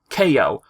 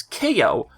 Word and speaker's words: Kao: pc last but not least our favorite kangaroo ko or ko or ka depending of which country you live in i've heard different pronunciations but you know it's officially pronounced as ko or dennis which was his prototype name the